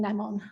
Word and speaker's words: Nemon: and has co-authored a biography of him finding nemon I might be pronouncing his name wrong I think yeah no